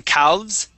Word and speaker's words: calves: Now that L is going to be silent, Adela. So instead of saying calves, we say calves.